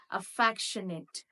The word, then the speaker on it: affectionate: Affectionate, nay, but it is not nay, it is net. Affectionate. Affectionate means the stress will go a little bit down.